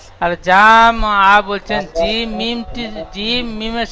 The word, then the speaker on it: جمعا: জি মিম জাবার জাম, এখানে জাম বলে টান দেবেন না। ফাওয়াসাতনা বিহি জামআ, জামআ বলেন।